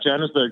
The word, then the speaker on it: Johannesburg: the reason I ask you because you're from Johannesburg did I say that right how do you say it that's correct yeah yeah Janice Berg that's that's correct that's where I was we